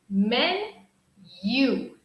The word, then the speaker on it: menu: number six menu menu remember this pronunciation is like men men you you men you okay very good everyone